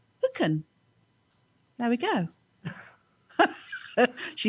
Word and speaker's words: Thugainn: And the track is, now it's spelled THUGAINN, and I think it's Hooken.